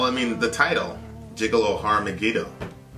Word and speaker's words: Har Megiddo: well yeah well I mean the title gigolos har Megiddo har Megiddo come again yeah that's how you say it